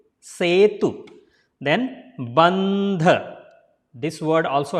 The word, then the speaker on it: Setu: So E will be pronounced as a sound, right? I already made the clear in the beginning. So it's a Setu and U is there. So U sound will not be longer. So Setu.